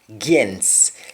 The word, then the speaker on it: gens: Gens. Sometimes we don't pronounce the T at the end of against. We say gens.